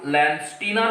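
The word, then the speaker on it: Landsteiner: একজন চিকিৎসক, তিনি হলেন কার্ল ল্যান্ডস্টিনার বা স্টেইনার। তাহলে নামটা কি? ভিয়েনার চিকিৎসক, ভিয়েনার চিকিৎসক, চিকিৎসক কার্ল ল্যান্ড স্টেইনার বা স্টিনারও বলা হয়, যে যেমনভাবে উচ্চারণ করে।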